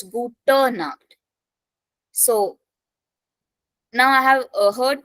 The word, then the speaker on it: Gute Nacht: It is not Guten Nacht. It is Gute Nacht.